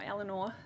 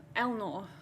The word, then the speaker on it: Eleanor: or Eleanor, or if you're Matt, pronounced Elnor. He missed the vowel. He missed a vowel.